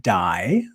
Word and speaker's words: Dai: do i say that it is pronounced die which is a welsh name for david and my last name